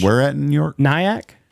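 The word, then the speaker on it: Nyack: York it was where at in New York nyak how do you spell that n y a c k okay nyak New York Helen akley uh and members of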